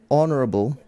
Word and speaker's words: honorable: You say honorable. The H is silent, okay?